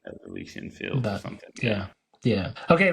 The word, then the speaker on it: Elysian: Elysian. Elysian. Okay. Yeah. Elysian. Yeah. I think Good stuff. I think it's a common concept of a utopian society, right? Yeah, like it's Elysian field or something.